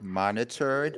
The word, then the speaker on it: monitored: monitored money term oh so that's the word monitored and that's how you say it so you're not really saying the E monitored monitor monitor so